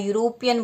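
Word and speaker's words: European: आगे एन नहीं लगेगा क्योंकि इसका जो प्रोनाउंसिएशन जो उच्चारण है वह व्यंजन की तरह होता है। यूरोपियन बोलते हैं हम, यू से हो रहा है तो इसलिए इसके आगे ए हम लगाएंगे।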